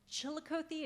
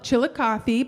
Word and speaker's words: Chillicothe: So you are from Chillicothe, am I pronouncing that right? No, Chillicothe, but we won't hold Chillicothe.